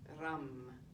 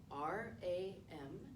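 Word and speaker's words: रं: the solar plexus chakra is ram r-a-m and i'm working on my trilled r ram yours might be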